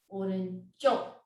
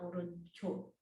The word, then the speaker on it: 오른쪽: When you say the last part, try to pronounce the consonant 치 more stronger and more higher, so that it is pronounced like 치, 오른쪽, not 오른쪽.